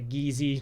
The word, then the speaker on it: Geze: It looks weird, it has a weird name, the Geze, or the Gizi, depending on how you want to pronounce it. Geze is how it's like written and pronounced in Japanese.